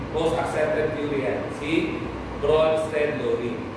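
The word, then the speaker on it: Brønsted: Si Bronsted theory. So, hindi ka mamamali dahil bro rhymes with pro.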